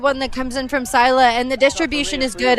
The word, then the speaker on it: Scylla: I'm actually being told I'm pronouncing the Milwaukee side wrong. Sila seems to be the correct pronunciation.